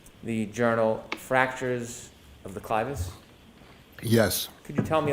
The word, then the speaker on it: clivus: Were you a presenter in fractures of the clivus, clinical and radiographic features? Yes. Am I The pronouncing that clitoris?